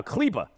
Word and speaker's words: Kleber: Maxi Kleber is somehow Kleba.